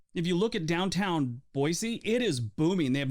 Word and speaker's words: Boise: well that's good number seven Boise Idaho now you want to say it right it's Boise not Boise the 2007 Fiesta a lot of people throw Z in there and it drives the locals crazy I am guilty of calling it Boise on more than a few occasions because I know it drives the locals crazy it's actually Boise and I promise they'll